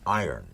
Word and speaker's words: iron: Iron You don't pronounce it iron. That's what everybody tells me. It's the iron horse. Like Lou Gehrig was the iron horse of baseball. Yes. The word I-R-O-N is iron. No, iron.